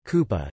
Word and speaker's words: Kupang: coupang Indonesian Kota coupang Indonesian pronunciation kupah Dutch spelling ko pong